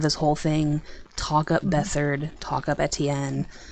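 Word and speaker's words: Beathard: who in theory will be starting um Casey bethard yeah it's it's pronounced bethard I made that mistake many times to myself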